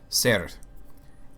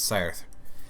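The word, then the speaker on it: seiðr: pronunciation on this, but it's pronounced roughly Ser. It's like S-E-I, and it's like this symbol that's sort of like it means a T-H, but it kind of looks like a D and then an R, but it's Ser.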